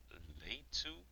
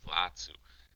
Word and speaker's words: Latu: gets taken down by late two. I'm pronouncing it differently from when I pronounced it earlier. I think it's actually late two Latu.